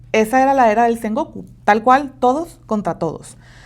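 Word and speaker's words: 戦国: Entonces, ¿qué estaba pasando en esta era de Sengokoku? S Goku, perdón, les digo, ya estoy empezando a pronuncionar mal. Ay, Dios. Pero bueno, le he echo ganas. Esta era de Seng Goku, ¿qué pedo o qué?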